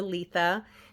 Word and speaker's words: Litha: Welcome to my reading for the Litha season or Letha, depending on how you've been taught to pronounce it.